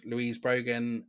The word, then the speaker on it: Louise Brogan: Hughes king of video and I'm here with Louise Brogan Louise that is how you say your name